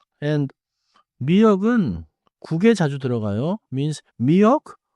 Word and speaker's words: 미역: 미역 has two syllables. 미안 역 미역 미역 미역국 파레 has two syllables 파 and 레 it is not 파란셋 the color blue.